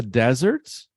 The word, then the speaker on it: desert: s's I'm from the deserts is desert desert everybody let's repeat desert desert desert desert okay so then the stress is on the first syllable and instead of